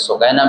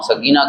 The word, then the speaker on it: سکینہ: تھیں، اور پھر حضرت سکینہ بھی تھی، جن کو ہم سکینہ کہتے ہیں عموماً، اس کا صحیح تلفظ سکینہ ہے۔ تو وہ بھی تشریف